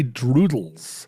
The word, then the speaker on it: Droodles: you pay drawn droodles it's very satisfying to say droodles if you really put your put the accent on the L if you say droodles d r o o d Dr like like are you saying has to be a clear L like you're a yeah